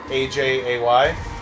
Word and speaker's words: Ajay: like that right like a-j-a-y they pronounce it ajay but that's a you know it's a cultural thing right but like and